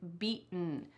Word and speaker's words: beaten: times in this explanation feel your throat when you try to say this I want you to kind of swallow that t sound this is called a